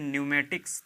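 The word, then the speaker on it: pneumatics: और ये फिर लिखा हुआ है न्यूमेटिक्स. तो ये पी से स्टार्ट है लेकिन ये पी जो है यहाँ पे साइलेंट है, इसलिए पढ़ा नहीं जाएगा.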